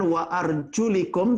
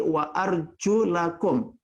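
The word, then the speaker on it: وَأَرْجُلَكُمْ: Berikutnya kalimat wa arjulakum. Perhatikan harakat di huruf lam. Bukan wa arjulikum, tetapi wa arjulakum.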